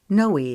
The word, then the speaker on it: Noe: to part with them Holden wrote her nickname as n OE but he pronounced it as Noy like Joey with an N she arched an eyebrow